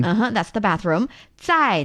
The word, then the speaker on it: 在: And here 在, the initial of the 在 pronunciation is actually 资. So 资 and 知 are different. Yes. Which is why it's 在. Instead of 在.